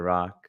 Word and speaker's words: Rak: Rock here. Welcome back to another Rock on Live. That's Dr. Rock, spelled R-A-K, pronounced R-O-C-K.